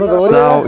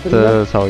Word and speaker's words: SAO: Today we are looking at Zhao in real life, or SAO, I don't know how you pronounce it, those Anglophone countries, but Zhao is like people pronounce it in Italian.